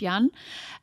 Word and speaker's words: Jan: name is yan yan so it's spelled like jan but it's yan and we would have